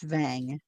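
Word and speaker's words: Wang: Dice Vang, W-A-N-G, but it's pronounced Vang.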